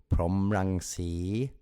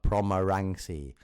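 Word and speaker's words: Phrommarangsi: His name is actually Somdet Pra Puttajan To Promrangsi, not Promarangsi.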